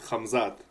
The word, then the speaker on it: Khamzat: Khamzat.